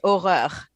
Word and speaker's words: horreur: Yeah, well, in French, it's pronounced horreur, so it has way too much.